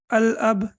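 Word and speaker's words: الأب: go through this uh here we have al-ab so how do we pronounce it right so Lam will be pronounced while I'm will be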